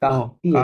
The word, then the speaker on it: quartier: না, এই যে ইউটা আছে এটা সাইলেন্ট আছে, হ্যাঁ? এটা Oh, কাহতিয়ে লিভ quartier.